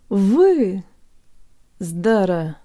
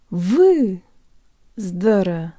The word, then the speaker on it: выздороветь: Вы. Здоро-веть. Вы. Здоро-веть.